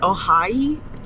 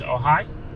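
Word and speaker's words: Ojai: oh I it's it's spelled o-j-a-i but I think it's pronounced like ohai but I'm not positive but it's uh it's oh hi oh hi oh hi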